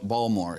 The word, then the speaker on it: Baltimore: accent you're like okay what's that t is not pronounced yeah no balmore yeah and water O's